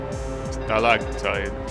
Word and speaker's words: stalactite: So it's talite essentially you pronounce it all with the a sound. Well, at the end you say I, but yeah, stalactite.